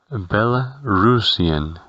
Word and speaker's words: Belarusian: Y la nacionalidad se dirá Belarusian, Belarusian, teniendo como único detalle que la A del final suena como una E, Belarusian.